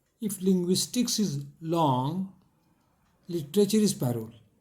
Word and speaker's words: langue: LANGUE, लैंग्वे, और बोलेंगे लॉन्ग, लॉन्ग खाते जो हैं लॉन्ग, तो प्रोनाउंसिएशन भी ठीक करना पड़ता है।